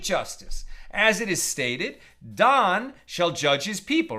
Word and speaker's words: Dan: as it is stated Don shall judge his people right Don was one of the 12 sons of Jacob some pronounce it Dan uh but Don shall